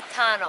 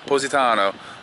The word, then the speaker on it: Positano: We figured out that's how you say it. Someone DM Positano. Courtney. Positano. Like cozy, but posy. Positano. Positano.